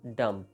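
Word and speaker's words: dumb: आज हम इसका बी जो है वो प्रोनाउंस नहीं करते।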